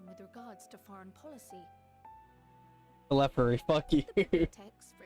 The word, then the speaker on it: Telophoroi: Come what may, we must prevent the Telophoroi's plans from coming to fruition.